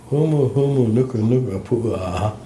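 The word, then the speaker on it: humuhumunukunukuāpuaʻa: Humu, nuka, nuka, pua. It's I'm not going to try to spell that. actually it's not that hard. Humu twice and nuka nuka twice and napua.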